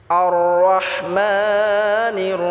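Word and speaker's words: الرحمن: এটা ভুল উচ্চারণ হবে এটা গলায় চাপ দিয়ে উচ্চারণ করতে হবে মা এক আলিফ টেনে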